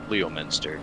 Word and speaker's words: Leominster: It's spelled Leo Master, isn't it? Yeah, Leominster. Leo Master, yeah.